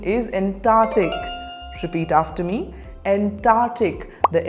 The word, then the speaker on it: Antarctic: on to our next word how do you pronounce this word antartic no the correct pronunciation is Antarctic repeat after me Antarctic the Antarctic region is